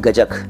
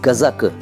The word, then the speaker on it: गजक: बड़ा नाम आता है गजक असल में वह बजट नहीं है गजब एक व्रत उच्चारण है लेकिन वह सही उच्चारण इसका है गज्जक तो देखिए गज्जक जो है वह इस तरह से लिखा जाता है तो गजब का शब्द